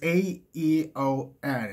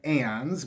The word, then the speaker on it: Aeon: Do you pronounce it Aeon, or is it just Eon? It's A-E-O-N.